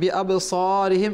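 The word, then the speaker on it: بِأَبْصَارِهِمْ: তো এখানে বিআবসারিহিম এই শব্দের মধ্যে সদ রয়েছে, সিন নয়। বিআবসারিহিম বিআবসারিহিম যেন আমরা না পড়ি।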